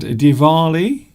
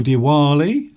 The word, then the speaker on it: Diwali: Last week we had Diwali, or Diwali, some people pronounce it as, the Festival of Lights for the Hindus last week.